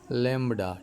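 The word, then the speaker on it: lambda: लैम्बडा, ठीक है। ये भी जो है ये साइलेंट है, लैम्बडा, लैम्बडा इस तरह पढ़ते हैं।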